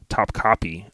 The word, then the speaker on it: Topkapi: Topkapi, Top Copy is how you say it according to Google.